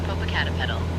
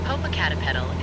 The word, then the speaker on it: Popocatépetl: Searching for how to pronounce Popocatépetl. Popocatépetl is a Nahuatl word that means smoky mountain. It is pronounced as Popocatépetl in Spanish and Popocatépetl in Nahuatl.